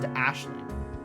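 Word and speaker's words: Aisling: think is usually pronounced Ashling.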